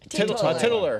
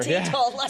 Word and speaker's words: teetotaler: I'm going to be a tittler or whatever. Teetotaler.